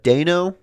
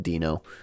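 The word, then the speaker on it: Deino: else there so uh dano dino i think it's pronounced i think it's supposed to be pronounced dino uh you're an okay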